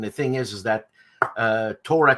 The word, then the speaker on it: Tora: thing is is that Torah Torah Torah the syllable the accent is on the o which is not a Japanese thing to do put the accent in the middle of a word but Japanese doesn't use